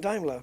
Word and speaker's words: Daimler: blah blah blah and it's Daimler so now I'm saying Daimler because that's how it's done JF is a peanut